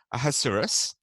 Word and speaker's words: Ahasuerus: That's actually not how you pronounce it. I can't ever remember how to pronounce his name properly, but phonetically, you pronounce it Ahasuerus.